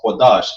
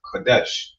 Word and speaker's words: Qadash: That's how you know it's Qadash and not Kodesh.